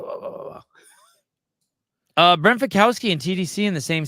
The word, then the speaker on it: Fikowski: When he was on this show, he said he's, his name was Fikowski. Fikowski. He said the correct pronunciation was I just Fikowski.